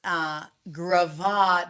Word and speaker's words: Gravitt: But Rob says it's Gravad because we're all in awe of Jarrett.